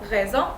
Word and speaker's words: raison: Raison, which is reason. Every time S is alone and between two vowels, it's gonna sound like Z.